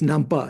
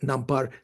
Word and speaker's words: Nampa: Yeah, this is Nampa, not Nampar.